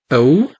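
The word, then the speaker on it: ئەو: We have O, A-W. It's pronounced this way. O, which means he or she.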